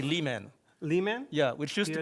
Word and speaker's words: Pierre Le Manh: start M Lon yes Pierre lemon yes perfect um my French is a little rusty I know a little bit actually it's a Vietnamese name what really yes I